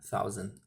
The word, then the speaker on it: thousand: Lembrando da pronúncia da th, né? A palavra thousand, né? Que ela é THOUNSAND, thousand, ok, galera?